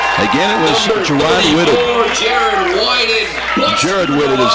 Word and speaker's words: Whitted: Jared Whitted is how they pronounce it, but his second sack of the ball game.